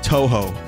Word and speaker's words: Touhou: I'm good but Vinnie it's pronounced Touhou I know ho I